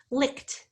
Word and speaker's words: licked: The sound of the ending is t, licked. We licked the ice cream cones. Licked is spelled though ed, even though we only hear the t sound.